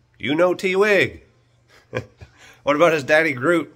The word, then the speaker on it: Twig: you know uno twig so his name is uno twig spelled u-n-o t-w-i-g but that is not how you say it so hold on so let me introduce you to you know t wig you have to say